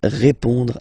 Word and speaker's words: répond: So, final D is not pronounced. You will only have this on nasal sound at the end.